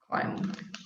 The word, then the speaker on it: climb: haven't picked it i i'd have to search out why we still have a b for that one it's related to the m sound climb okay next one french